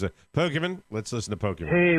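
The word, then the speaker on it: Pokémon: and what happened with tail hook next calls pokeyman pokeyman oh I'd like to pronounce it pokiman let's listen to poker hey Mike Oscar rod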